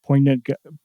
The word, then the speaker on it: poignant: to like a wise, poignant. I can never say that word. Poignant. Wise guide. Yeah, poignant. Yeah. There we go. I always try to pronounce the G.